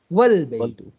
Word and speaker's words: والبیت: تو اب ہم اس کو البیت نہیں پڑھیں گے بلکہ کیا پڑھیں گے والبیت, والبیت.